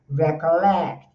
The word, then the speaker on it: recollect: Então nós temos o recollect, o stress tá no lect, então fica recollect.